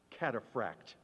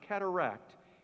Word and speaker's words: cataphract: Honey, don't confuse it with cataract. It is not cataract, it is cataphract.